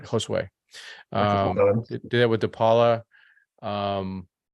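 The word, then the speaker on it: Josué: Josue.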